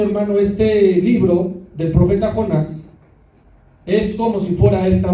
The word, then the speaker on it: Jonás: El estudio del libro del profeta Jonás, quedamos que llevaba acento en la A, por favor, el cual lleva por nombre elegidos para ser un instrumento de Dios.